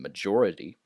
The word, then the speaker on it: majority: In some languages, the J is pronounced like a Y, so some people might pronounce this word mayor, but that's incorrect. This is major and majority.